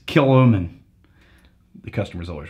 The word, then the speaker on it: Kilchoman: a couple letters yeah that's gaic you don't pronounce though kill chman yeah it's not kill chman it's kilman the customer is always right except for when